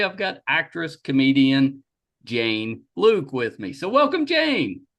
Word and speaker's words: Luk: Today I've got actress, comedian Jane Luke with me. So, welcome Jane. Thank you, Michael. Thank you for pronouncing my name right on the first try.